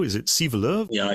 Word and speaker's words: Sivelöv: Is it Sivelöv? Yeah, in Swedish we say Sivelöv, but I'm used to having Sivelöv or something like this in outside Sweden.